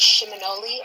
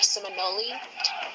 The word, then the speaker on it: Seminole: or Muskogee word, and it's pronounced Shiminole or Seminole.